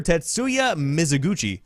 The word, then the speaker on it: Tetsuya Mizuguchi: Founder Tetsuya Mizuguchi, I believe is how you say that name,